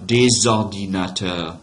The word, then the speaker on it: des ordinateurs: Des ordinateurs. Liaison right there. Des ordinateurs, right? Don't pronounce final consonants, right? So that S doesn't get pronounced.